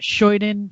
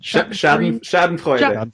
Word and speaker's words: Schadenfreude: me your German pronunciation. What is that? Scheuden? Schadenfreude.